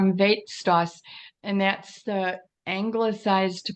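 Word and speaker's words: Veit Stoss: Yeah, it's called Weitstoss, and that's the anglicized pronunciation of his Polish name.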